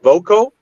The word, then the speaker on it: voco: Invocation, it comes from the Latin word voco. Voco is actually how you'd really pronounce it, but voco means I call, and then in means I call inside.